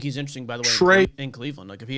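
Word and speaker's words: Trae: young look at you t-r-a-e you got the pronunciation right I'm proud of you big guy yeah so Trey young I'm a buy-on Trey young stuff had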